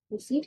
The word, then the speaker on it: receipt: रिसीट की spelling में IE नहीं होता, EI होता है, RECEIPT, रिसीट, RECEIPT, IE नहीं होगा, EI होगा, रिसीट, P साइलेंट।